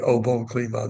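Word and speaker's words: Au Bon Climat: Or maybe a better $50 wine than this, the OO Clema. That's spelled A U B O N C L I M A T.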